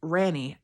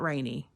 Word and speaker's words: Randy: It's Ranny, not Rainy. Only the Europeans get a pass as Ranny with an English accent is Ronnie, and we can just skip all that.